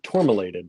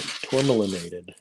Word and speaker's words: tourmalinated: tourmaline Nation tourmalinated tourmalination I used to just say tourmalated but that's not really tourmalinated tourmalinated gotta get that extra syllable in there so but look at